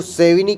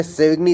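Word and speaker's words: Savigny: इसको सेविनी कहते हैं, लेकिन मैं सेविग्नी इसलिए बोल देता हूँ क्योंकि हमारा स्पेलिंग मिस्टेक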